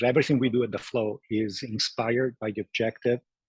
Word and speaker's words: Floow: not the video side that's flow with two o's so flowow but pronounce the normal flow away so what is